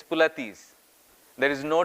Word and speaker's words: Pilates: It's sometimes called as pilots. It is sometimes called as pilateses, right? But the original word is German. And the pronunciation is pulatis. Pulati. It's not pilots. It is not pulatis. It's pulatis.